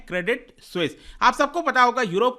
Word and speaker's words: Credit Suisse: क्रेडिट स्विस क्या है इसका स्पेलिंग आप देख लीजिए इसको ये प्रोनाउंस करते हैं क्रेडिट स्विस आप सबको पता होगा